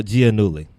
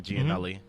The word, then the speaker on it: Giannulli: Okay, Massimo Giannulli. I was going to say Giannulli.